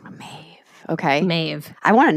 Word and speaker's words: Medb: introduce May of kect it's spelled Meb but pronounced mave okay sometimes you'll see it it's like angleze to reflect how it's actually pronounced is mave her name or is it a title it's her name mave okay mave I want to know more about